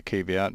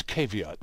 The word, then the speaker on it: caveat: from functioning okay and it's caveat not caveat Ian well I think either pronunciation works because i use both them okay but i just